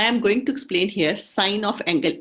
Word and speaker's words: sine: So I can also write it sine A is equal to P by H, perpendicular by hypotenuse.